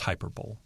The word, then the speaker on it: hyperbole: It's pronounced hyperbole.